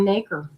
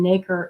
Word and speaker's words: nacre: Luster, it happens when each pearl has a lot of nacre. It rhymes with acre. Spelled like acre, but with an N in front. And nacre is the solution that the mollusk or oyster, what have you, clam.